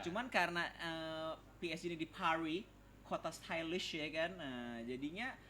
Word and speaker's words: Paris: Bacanya Pari. S-nya nggak ada.